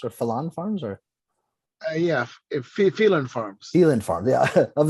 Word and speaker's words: Phelan: Yeah, Phelan Farms. Phelan Farm, yeah. Of the two pronunciations, I got both right, both wrong.